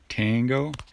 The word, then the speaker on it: Tango: So it has a long A sound. Tango.